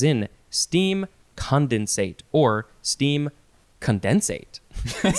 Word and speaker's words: condensate: It is the word condensate. And it looks like you can also say condensate if you want to emphasize that syllable.